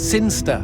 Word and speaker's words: Sinchester: boring town of sinchister sinchester sinsta what it's pronounced sinsta how do you know